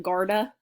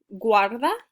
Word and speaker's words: guarda: pointing and then guarda i know it looks like garda guarda it means put away